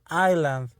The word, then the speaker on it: island: inc instant industria inside highland la palabra island es muy curiosa porque a pesar de que tiene una s esta s not no debe de sonar es